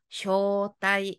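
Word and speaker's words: 招待: 미나상 뭐라고요 마네쿠 좋습니다 뒤에 글자는 앞에가 초 뒤에는대 되겠네요 초 글자 음으로 읽으면 우리가 쇼 장음으로 읽었죠 대는 미나상 타이가 되겠습니다 그래서 초대는 일본어로 쇼다이 되겠네요 아이 계속합시다 두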